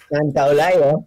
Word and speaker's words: Santaolalla: I always think, well, I think there's a couple too many syllables in there. Yeah, I tried to explain. I said, listen, it's like Santa Monica, Santaolalla, you know.